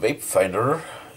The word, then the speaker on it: Vapefindr: The people of Vapefindr, which I pronounce like this because of the messing letter "E" at the end as you could see